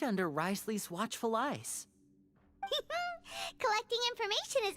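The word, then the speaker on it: Wriothesley: this information right under risley's watchful eyes collecting information has always been our strong point what is the point of the th being there if it's just pronounced rly to find out more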